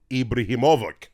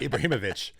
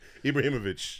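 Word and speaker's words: Ibrahimović: And finally, recently retired, not short of confidence, Zlatan Ibrahimovic. He went to I definitely mispronounced that. Ibrahimovic. Ibrahimovic.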